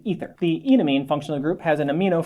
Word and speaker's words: enamine: Vowel sounds are very important in functional groups. We use a long E here. This is an enamine, as in it looks like it has an alkene and an amine attached to the same carbon. An enamine.